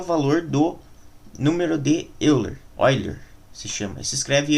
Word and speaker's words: Euler: é que é o valor do número de Euler other se chama se escreve eu levasse disso óleo então o percentual de usuários da internet a